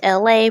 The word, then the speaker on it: Elay: It's LA, pronounced like LA like the city.